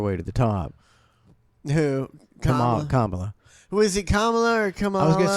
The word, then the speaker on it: Kamala: I think it's Kamala, I think it's Kamala. but I I know hear Jerry calls her Carmela. and I hear so many Yeah, people.